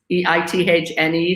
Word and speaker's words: Eithne: I have an Irish first name that is pronounced with an A at the end, even though it's Eithne.